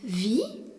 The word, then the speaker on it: wie: Le mot interrogatif wie, W-I-E, signifie comment. Le E qui suit le I prolonge la prononciation du I. Wie.